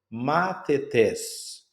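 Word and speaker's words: μαθητής: A primeira logos na logo na primeira sílaba, a gape na segunda sílaba e aqui nós temos matetes. Matetes que é na última sílaba atônima.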